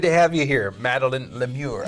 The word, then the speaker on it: LeMieux: Good to have you here, Madeleine LeMIEUX. I just want to pronounce that that name as French as I can. Did I do all right? It's just fine. All right, thank you. Madeleine LeMIEUX, Resident Arts.